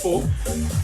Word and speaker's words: faux: So what happened is KFC today, 27th August, in USA, created a new menu of pho, F-A-U-X, pho, pronounced as pho.